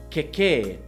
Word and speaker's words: kekē: And the last example is kekē with a short 'e' sound followed by a long 'e' sound - kekē And a kekē is